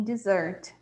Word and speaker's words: dessert: A gente tem dessert, né? Aqui na dessert, né? Dessert, como a gente tem aqui. E dessert é sobremesa, sim? Dessert. Então, a tônica é a segunda parte da palavra, né?